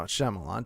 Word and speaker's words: Shyamalan: Is that how you pronounce it? No, Shyamalan.